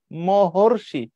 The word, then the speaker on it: মহর্ষি: তো তুমি বলছো সীতার্ত এই দেবর্ষি আর সীতার্থ দুটোর উচ্চারণ আলাদা কিনা খেয়াল করে দেখো দেবর্ষি দেবর্ষি মাঝখানে অর সীতার মাঝখানে আর ক্ষুধার্ত আর তৃষ্ণার্ত ভয়ার্থ ক্ষুধার্ত মাঝখানে আর বাট ওই পাশে যখন তুমি যাবা মহর্ষি মহর্ষি মাঝখানে অর তাইলে এগুলোকে ভাঙ্গো অধম